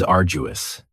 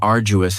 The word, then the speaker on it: arduous: And arduous has 3 syllables. And the stress is on the first syllable. Arduous. Now, you don't hear that D sound that much. It's not very strong. It almost sounds a little like a J.